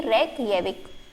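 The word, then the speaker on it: Reykjavík: ठीक है, यहाँ पे जो जे का प्रोनाउंस है वो ये है ये, तो इसकी कैपिटल हो जाएगी रेकयाविक।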